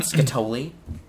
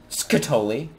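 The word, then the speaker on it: Skatole: Aren't you glad that you got Scatoli? How do you actually pronounce that? Scatoli. Is that really it? Scatoli. Is that really it? Yeah. Well, I mean, because scat, like scatology. The study of scat.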